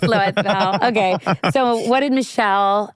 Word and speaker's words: Louisville: Michelle from Louisville. Louisville.